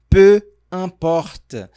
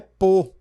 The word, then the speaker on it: peu importe: E aqui vamos aprender agora a pronunciar peu importe. Faça atenção que aqui não é pô. Pô, é pele. Pô, se você falar com o do vovô, é pele que você vai tá falando.